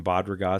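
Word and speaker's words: Bad Ragaz: some downhill skiing from Bob ragazze Switzerland but it's spelled differently it's B ad and it's two words B ad ra Gaz so I've thought baud rate but it's pronounced bot and I thought people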